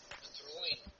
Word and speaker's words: Dreoilín: I guess the closest Irish pronunciation would be Dreoilín.